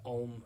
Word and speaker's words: Om: silently in your head it's pronounced more like om like a-u-m right so breathe in